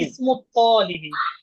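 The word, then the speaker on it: اسم الطالب: হুজুর ইসমু ইসমু ইসমুল ইসমুল তলিবি, যেহেতু ইসমুল আমরা জানি তলিবি, যে লামটা উচ্চারণ হবে না এখানে, তাহলে মিম ধরবে কাকে? তকে। তলিবি, ইসমুত তলিবি।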